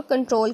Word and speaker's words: Ctrl: उसके बाद CTRL की, इसको प्रोनाउंस करेंगे शॉर्ट फॉर कंट्रोल की।